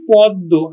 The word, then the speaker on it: পদ্য: অর্থাৎ দুইবার উচ্চারিত হবে যেমন দেখো পদ্য শব্দের শেষে আছে মফলাহ তাহলে আমরা উচ্চারণ করবো কিন্তু পদ পদ্য আমরা উচ্চারণ করছি পদ্ব আত আত আমরা উচ্চারণ